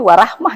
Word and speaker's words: wa rahmah: ya betul betul ya yang bacanya wa Rahmah itulah Jayabaya paksakan tadi